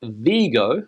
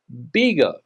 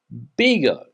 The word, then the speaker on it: Vigo: This city is not pronounced Vigo. We saw a rule before, remember, that we have to pronounce it with a soft B. Bigo. Bigo.